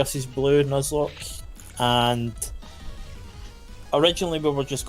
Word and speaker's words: Nuzlocke: I like the way you speak, but Nuzlocke. I don't know what that means, but no, just imagine Nut with Z and then Lock, L-O-C-K-E at the end.